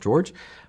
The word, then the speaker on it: Jorge: In Spanish, my name is Jorge. In English, my name, you know, is is is pronounced George.